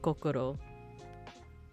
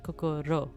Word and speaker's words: kokoro: But the way that you pronounce it is you wouldn't say kokoro like the way that Americans say it, like, you know, or